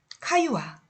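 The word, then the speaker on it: Caillois: 카유아. 네, 카유아라는 학자가 있어요. 프랑스 사람이죠. 카유아라고 읽으면 돼요.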